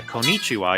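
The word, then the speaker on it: konnichiwa: that's actually why uh konichiwa you're supposed to pause on that n Sound for a bit because it's a double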